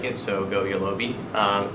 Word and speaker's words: Yolobe: stuck in and I like it so go yellow be pronounced yellow B I've gotten all sorts of crazy